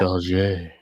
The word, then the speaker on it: Auger: Everyone has been correcting people about how the attorney Jennifer pronounces her name. It's Auger. Auger. No, It's Auger.